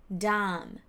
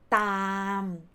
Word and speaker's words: ตาม: For example, the word ตาม it's not dam, no, not D sound, but ตาม t sound.